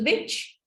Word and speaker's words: beach: they say this word can you help me to say this word again with a long e sound yes so when we have the Longs out we don't link this e sound with the CH sound after that um so Chan can